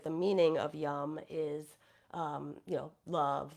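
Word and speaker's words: yam: use the seed sound yum it's spelled y a m but it's pronounced yum and this is a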